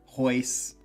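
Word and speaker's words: Royce: My name is like, and you don't pronunciate the R, so it's Hoyler, Hoyce, but when you see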